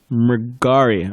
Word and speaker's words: Mrigari: Mrigari, okay. It's a common mispronounced one, probably.